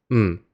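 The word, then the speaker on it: 唔: It's literally just a "m" sound with a low falling tone.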